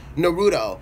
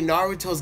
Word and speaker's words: Naruto: I get triggered when people say Naruto's name like that. It is not a complicated name. It is not a 10-syllable word. It is Naruto.